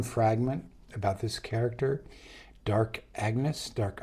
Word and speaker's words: Agnes: about this character Dark Agnes, dark anes uh however you say it. I think Anes is how how you say it in French and she's a French character.